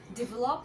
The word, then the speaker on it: develop: We need to develop our country.